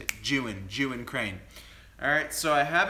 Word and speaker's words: Zhiyun: Today we're going to continue talking about the Zhiyun, that's how you pronounce it, the Zhiyun crane. It's not Zhiyun, it's Zhiyun. That's how you say it, Zhiyun crane.